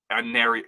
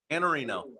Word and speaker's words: Iannarino: On Wisconsin, Iannarino. I mispronounced the name again. My bad. Iannarino.